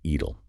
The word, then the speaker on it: Idel: of the Iron Curtain, the first name is pronounced Moshe, and the last name is Idel. Moshe Idel.